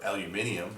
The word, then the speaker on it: aluminium: Uh and to your base metals, aluminum, copper, or aluminium as the British would say.